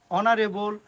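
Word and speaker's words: honour: আবার অনেক সময় আছে এইচ যুক্ত কোনো নাউন বা অ্যাডজেক্টিভ যদি থাকে এবং যদি তা সাইলেন্ট থাকে, যেমন honest, অনারেবল, অনার, আওয়ার, এয়ার, অবশ্যই এখানে এই সাইলেন্ট থাকার কারণে তার আগে আমরা এন ইউজ করব।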